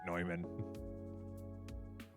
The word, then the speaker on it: Neumann: and everyone pronounced it Newman, and it's like, that's not how you say that. It's a German name. You pronounce it Neumann.